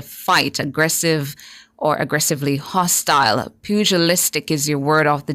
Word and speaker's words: pugilistic: Your word of the day is spelled P-U-G-I-L-I-S-T-I-C, spelled P-U-G-I-L-I-S-T-I-C. Pugilistic.